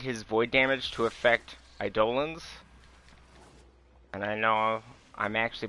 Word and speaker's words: Eidolon: I think the community wanted his void damage to affect Eidolons. And I know I'm actually pronouncing that correctly.